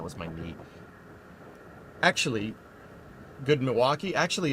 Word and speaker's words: Milwaukee: Actually, good Milwaukee. Actually, it's pronounced Milywake, which is Elgangquin for the good land.